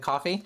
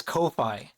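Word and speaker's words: Ko-fi: Is it coffee? I was yelled at by Garo because it was not coffee. They said it was Kofi. I always pronounce it coffee.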